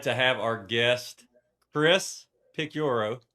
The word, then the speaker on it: Picciurro: We are excited to have our guest, Chris Picuro. Picoro, is that how we say it, Chris?